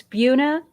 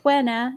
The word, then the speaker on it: Buena: to buena vista and it's buna not buena even though it's spelled buena it's buena vista oh